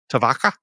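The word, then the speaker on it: Tyvokka: that's what I said is that right huh tavaka yeah yes it was that's the only really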